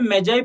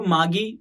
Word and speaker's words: magi: उसको इंग्लिश में मैजाई प्रोनाउंस करते हैं और हमारी लैंग्वेज में उसको मागी भी बोला जाता है, ठीक है।